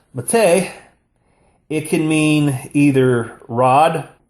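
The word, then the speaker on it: מַטֶּה: Now, when this word is pronounced mateh, it can mean either rod, and you can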